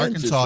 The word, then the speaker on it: Arkansas: So Arkansas, Arkansas, right? yes, you find yourself in hot water when you go to Hot Springs, Arkansas. Arkansas. Yeah, it's not your Kansas, it's our Kansas.